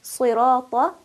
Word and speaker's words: صراط: For example, in Surah Al-Fatiha, when we say صراط الذين أنعمت عليهم, we should make sure that we are pronouncing صراط with the heaviness that it possesses.